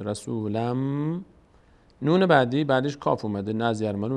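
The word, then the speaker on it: رسولًا منكم: تنوین داریم بعدش میم بعد از تنوین میم یکی از حروفی ادغام میشه به جای نون میم تلفظ میشه رسولم نون بعدی بعدش کاف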